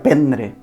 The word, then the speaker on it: prendre: Alguns d'aquests exemples els tenim en verbs com, per exemple, prendre, que s'escriu prendre, però es pronuncia prendre, i els derivats també, aprendre, per exemple.